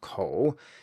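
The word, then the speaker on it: 口: However, to learn to read and write Chinese you need thousands of characters and this component, which actually means mouth and is pronounced kǒu, is one of the most common building blocks.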